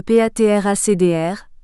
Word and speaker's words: PATRACDR: particulièrement Friant c'est ainsi le patracdr à prononcer patracd qui permet de préparer de